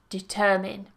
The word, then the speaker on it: determine: yeah so watch that you're not moving that stress and you're not saying as mine but determin determine excellent so that brings us